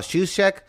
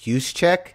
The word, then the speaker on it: Juszczyk: It's just like drop the J. Like it's sort of a soft J. Just use it as a Y. Juszczyk?